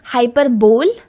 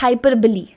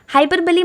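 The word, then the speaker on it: hyperbole: ported device है hyperbilly this इस not pronounced us hyperbol इट्स hyperbilli hyperbilly मतलब बढ़ा चढ़कर कुछ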